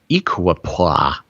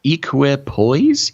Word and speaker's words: equipoise: necessary to restore an equipoise i don't even know if that's the right way to say it it's equip poise equipoise and then to move to